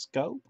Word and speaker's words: Schoop: think is solid scope is pronounced scope I think the rond